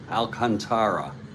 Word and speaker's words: Alcantara: Tampa Bay and Sandy alantara Alcantara Accent on the A and we'll do a